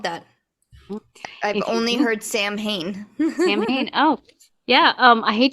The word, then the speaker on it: Samhain: Now, he's Celtic, and the Celtic community kind of was like, please, his name is Samhain. That's how you pronounce the name, is Samhain.